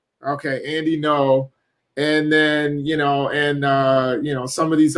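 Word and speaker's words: Andy Ngo: You just don't pronounce the G is silent. Okay. Is that real, or are we just joking there? No, it's actually pronounced Andy No. Okay, Andy No, and then some of these other propagandists out there.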